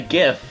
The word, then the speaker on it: GIF: can make multiple faces he makes like a gift it's pronounced Jeff a lot of him